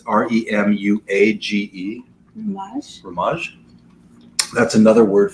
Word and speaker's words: remuage: Do you know how to pronounce this? It's Remuage.